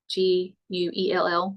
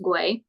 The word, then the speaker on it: Güell: Park Güell, Guell, but it's pronounced Güell.